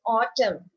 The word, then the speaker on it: autumn: So what is silent here? Autumn. It, do you have a N sound? No. So N is silent here, right?